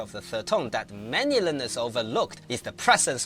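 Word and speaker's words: 马: When pronounced in isolation, it starts at a mid-level pitch, drops to a low point, and then rises slightly at the end.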